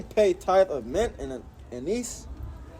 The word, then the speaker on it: anise: Woe unto you, scribes and Pharisees, hypocrites, for ye pay tithe of mint and anise, that's how you say it, cumin, and have omitted the weightier matters of the law, judgment, mercy, and faith.